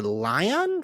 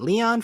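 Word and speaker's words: Lyon: PFL is heading to Lion, France. How do you pronunciate that? Leon, France.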